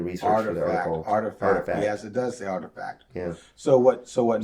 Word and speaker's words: RTFKT: don't know how you artifact is how they pronounce this oh it's called artifact